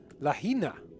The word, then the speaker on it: Lahaina: Lahaina. Is how you pronounce it.